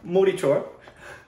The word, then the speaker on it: Motichoor: Well, first of all, Motichoor. Oh, sure. Not meaty.